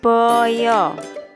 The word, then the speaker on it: baya: Jawa hewan ini disebut Boyo tulisannya baya tapi anak-anak membacanya Boyo Nggih Oke kita